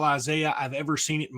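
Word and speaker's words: Izaya: And you know, when you've got a name like that and it's pronounced Isaiah, you are going to be a superstar at football or Scrabble or something.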